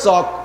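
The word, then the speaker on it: chalk: লেখে সি এইচ এল কে। এল এ ল উচ্চারণে আমরা জানি। আবার পড়তে যেয়ে কয় চক। তাই চক কবিতা সে এল গেল ক। সি এইচ এ কে চক। অথবা সি এইচ ওকে।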